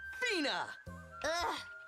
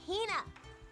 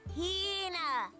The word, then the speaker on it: Hina: And this young lady is my traveling companion, the esteemed archaeologist, Fina. You keep saying it wrong. It's Hina. Hina.